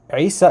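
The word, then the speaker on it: عيسى: the that that that the name isa in arabic starts with the letter ein which is this guttural sound from like the throat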